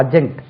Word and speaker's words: adjunct: அஜெக்ட் ADJUNCT அஜெக்ட். டி உச்சரிக்கக்கூடாது. அஜெக்ட் subject verb அஜெக்ட்.